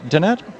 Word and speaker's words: Danette: Danette in Hinesville, Georgia. Am I saying that right, Danette? Yes, you are. You are saying it right.